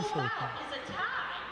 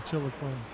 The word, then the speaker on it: Chiloquin: I used to drive through Chiloquin or Chiloquin. I've heard it pronounced a few different ways. Chili Queen.